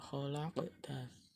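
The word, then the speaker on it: خَلَقْتَ: Cara membacanya harus memantul khalaqta.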